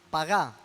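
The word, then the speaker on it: פגע: Pagá, no sé cómo se pronunciará, pajá se debe pronunciar, pero se escribe como pagá si me está debiendo algo. P-A-G-A, con acento en la última A.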